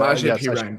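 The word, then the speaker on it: Samaje Perine: Samaje Pirine.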